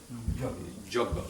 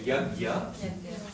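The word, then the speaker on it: यज्ञ: So it becomes, we say yagya in Hindi, Bengalis will say joggo. Right? In Y becomes ja, A becomes slight O sound, and the JN becomes a G, again, like gan, so it becomes a G.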